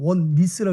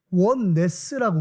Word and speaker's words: 원네스: 뭐 한글 발음으로 원니스라고 해서 맨날 니스 그런 사람들이 있는데 영어예요 그냥. 한국말이 아니라. 원네스라고 우리가 쓰고 있죠.